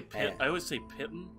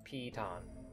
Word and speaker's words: piton: We take it slow, and we create, like, a rope bridge with the pitons / pitons, I don't know that word. I always say pitten.